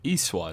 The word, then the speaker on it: E-SWAT: Anyone know what E-SWAT is? City Under Siege. Or S-WIT.